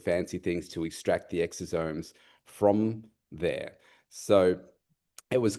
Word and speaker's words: exosomes: It it's interesting because when I read about like NK NK cell derived is it exoomes? Is that how you pronounce it?